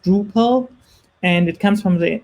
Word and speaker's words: Drupal: was finally um um released and um it's pronounced drupal and it comes from the dutch word drupal